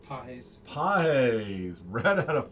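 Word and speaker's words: Pages: Pajes.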